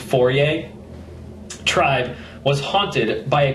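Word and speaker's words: Fore: The Fourier, it's spelled F-O-R-E, but it's pronounced Fourier, tribe was haunted by a creeping invisible terror,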